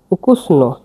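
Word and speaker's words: ukusna: এটা এস এটা এন আর এরপরটা এ উকুসন উকুসন উকুসনা নো বলতে পারে নাও হবে উচ্চারণটা না বললে বেটার হয় উকুসনা গরুর মাংস সুস্বাদু তহলে গভেদিনা যে উকুসনা উকুসনা লাস্টে এ আছে তাহলে এ না দেখুন উকুসনা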